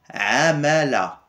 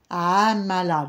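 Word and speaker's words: عمالة: des chefs quoi oui la province Amala Amala donc le a ouais a comme le Bellemain du mouton exact le maire raï parce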